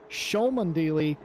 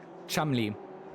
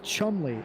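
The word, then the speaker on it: Cholmondeley: I have to forget that there's a D in there.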